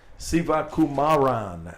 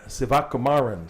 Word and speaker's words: Sivakumaran: you his name exactly sivakumaran sivakumaran it's five syllable Sak kumarin and we